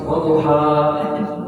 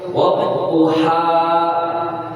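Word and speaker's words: وَالضُّحَى: Jadi kalau tadi kasih tasdid bacanya wadduha, wadduha, walaili idza saja. Ada tasdid, maka ada penekanan di situ. Wadduha, walaili idza saja.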